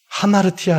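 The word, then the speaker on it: ἁμαρτία: 헬라어로 보면 하마르 테니아 하는데요 원래 죄라는 단어는 하마르티아 아고 합니다 그런데 약간 이게 변형이 된 단어든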